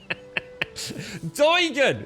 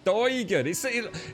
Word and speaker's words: Doigan: Doigan! That's how you pronounce it. Doigan.